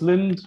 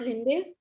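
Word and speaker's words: Linde: offers some confidence oh oh it's me it's pronounced as mrs lind not lindy yeah it's lin it's not a maharashtrian it's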